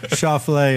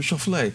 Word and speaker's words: Schauffele: 3 years, and I still don't know, but Schauffele is kind of how I say it, and it's got a little ring to it. I call it the omelet version. Yeah, yeah. Schauffele.